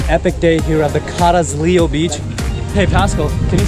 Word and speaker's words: Carrizalillo: All right, guys, so here's a wrap to an epic day here at the Carrizalillo beach.